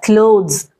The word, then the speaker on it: clothes: is pronounced as क्लोथ थ थ this is pronounced as क्लोथ्स द क्लोथ्स this is a different word and